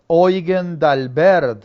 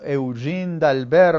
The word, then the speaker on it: Eugen d'Albert: Aquí estamos hablando de que se casa con Eugen d'Albert o Eugene d'Albert, ¿no?, dependiendo de cómo lo pronunciemos, y van a nacer Eugenia en 1892 y Herta en 1894.